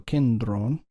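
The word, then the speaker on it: κέντρον: or to use to kindron. Notice how I pronounce that drone, because the toph is preceded by a nasal. That happens every time toph is preceded by a nasal. It's voiced.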